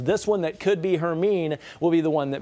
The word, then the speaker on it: Hermine: Hermine, that's how it's pronounced.